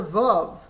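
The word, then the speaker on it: ו: Now, there is a vav. The vav we pronounce va, and so we pronounce this also va as well.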